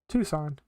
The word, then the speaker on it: Tucson: How to pronounce Tucson? Tucson.